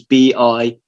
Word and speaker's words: bichir: Hilaire's first publication, because the studies that came out then, there was one that spelt Bichir as in, it was Bishir.